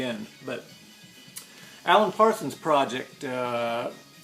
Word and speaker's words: Gaudi: But Alan Parsons project, Gaudi, how do we pronounce that?